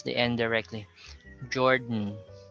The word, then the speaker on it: Jordan: river ben gordon so you don't pronounce the o there or the a you just pronounce the d then pronounce the end directly jordan gordon certainly burdensome we're